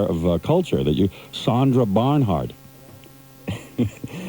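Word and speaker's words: Bernhard: Her name is Sandra Burnernhard. But you've been drinking and hitting the sauce for so long. You You're so unaware of culture that you Sandra Barnhard.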